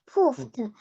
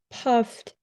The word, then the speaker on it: puffed: He poofed, poofed, poofed. So this word is pronounced puffed.